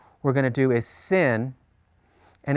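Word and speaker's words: שׂ: on the right okay the sin is pronounced as a simple S this the shin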